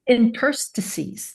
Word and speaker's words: interstices: Interstices, yes. You have to get the accent on the right syllable.